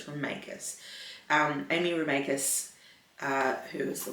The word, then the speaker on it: Remeikis: I think I've been saying Remeikis, but it's Remeikis.